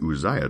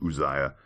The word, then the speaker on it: Uzziah: conversation about uh pronunciation I get Uzziah uzzz I a so I'm I'm calling him Uzziah and you know I